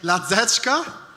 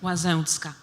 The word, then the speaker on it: Łazęcka: Is it possible for you to try to read the second part of my name? No. Ladzeczka? You are very close. Great. The correct pronunciation is? Łazęcka, but you are very close.